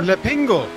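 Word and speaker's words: L'Épingle: I had the French pronunciation of that corner. Le Pingle.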